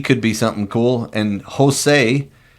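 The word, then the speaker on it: Hosei: be something cool and Jose which sounds like a Hispanic guy but it's spelled h o s eii kajima kajima yep sounds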